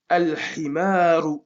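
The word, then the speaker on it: الحمار: Ici, pour le ha, al-himaru. On prononce.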